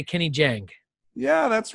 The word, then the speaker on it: Jahng: I always say Kenny Jahng.